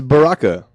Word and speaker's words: baraka: The root of the word Mabruk is baraka, pronounced this way.